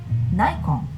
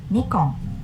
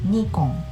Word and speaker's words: Nikon: top brand is this I believe many people pronounce it correctly but I sometimes here people say Nikon but you know this is not correct yes we pronounce it Nikon I do pronounce it correct originally named that